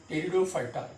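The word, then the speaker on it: Pteridophyta: and biggest one that is electrophyta here p is silent p t e r i d o p h y d terudo fighter nido phyta so here also you have to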